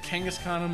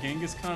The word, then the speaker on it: Kangaskhan: out of this click I pronounce that Kangaskhan him like did you know i used to pronounce it Genghis Khan I'm like wait a